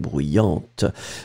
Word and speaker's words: bruyante: Remember, so same thing here, masculine form will end with A-N-T, and then the feminine form A-N-T-E, d'accord, you will pronounce this T in the end for the feminine. So, bruyant, and then bruyante.